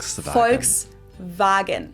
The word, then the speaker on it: Volkswagen: it would be pronounced folksvagen and not volkswagen. So just imagine that it was spelled with an f and v instead. Folks vagen.